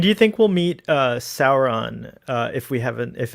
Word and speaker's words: Sauron: When do you think we'll meet Sauron? If it's not Adar. Isn't it pronounced Sauron? They pronounce it Sauron. Or I like how the main Weta guy says it's Soren.